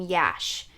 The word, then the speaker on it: Yash: This is from MAC and it's in Yash. I think that's how you pronounce it. It's Y-A-S-H. Yash. Yash. Yash. Something like that.